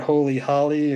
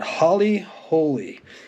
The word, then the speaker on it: Holly Holy: holy that's a little had to make sure I got that pronounced right not holy Holly or but Holly holy H don't know the